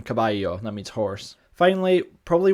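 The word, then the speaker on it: caballo: I became anyo and Latin kabbalos became kabayo that means horse finally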